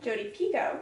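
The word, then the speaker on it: Jodi Picoult: like not a complete romance and then uh Jody Pico which apparently is how you say her name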